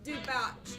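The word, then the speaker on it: Dubach: Pronounced Dubosh, but not spelled the same way. D-U-B-A-C-H.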